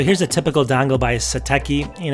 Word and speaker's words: Satechi: Satechi, I keep saying it wrong, but it's Satechi.